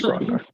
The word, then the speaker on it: Grogar: I just started saying grar but it's grogar grogar like Grog right the the alcoholic beverage Grog Grog I have an accent